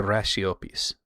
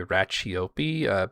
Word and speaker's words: Raciopi: If you're watching me over on Lombard, the Italian side of my family were the Raciopis. Here in America we say Racciopi, but I believe the Italian pronunciation is Raciopi.